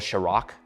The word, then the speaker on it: Kjerag: It's the NNormal Kjerag. I've learned that's how it's pronounced.